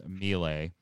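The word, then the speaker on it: Miele: executive uh laura mia i'm gonna pronounce this wrong i think it's milay uh announced the departure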